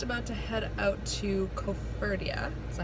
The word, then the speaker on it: Koforidua: So we are just about to head out to Koforidua. Is that how you say it? Mm-hmm. Koforidua.